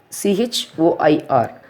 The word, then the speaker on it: choir: For example, we can take choir, CHOIR. We are not pronouncing the H, choir.